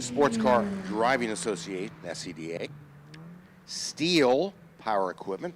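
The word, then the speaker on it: Stihl: Car Driving Association, SEDA, Steel Power Equipment, that's ST I L pronounced Steel, Tense Unlimited, Hulie, Toyot Tires, VP Racing Fuels, The Whiteart, and Women in Motorsports North America.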